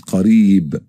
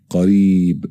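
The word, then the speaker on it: قريب: Now the second word is qareeb, E, qareeb. It's a long vowel, E.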